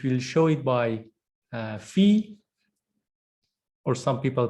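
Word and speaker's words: φ: cotangent line which will show it by uh F or some people pronounce it fi but f is the Greek pron correct pronunciation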